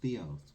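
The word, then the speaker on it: θεός: the study of God the word god translated into Greek is pronounced Theos which means the unknown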